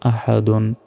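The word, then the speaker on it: أحد: জবর আ হা জবর হাল দাল দুই পেশন আহাদুন এখানে থামলে আহাদ আহাদ এভাবে উচ্চারণ হবে মানে শেষ অক্ষরে সাকিন দিয়ে উচ্চারণটা করতে হবে আহাদ ওয়ালাম ইয়াকুল্লাহু কুফুয়ান আহাদ।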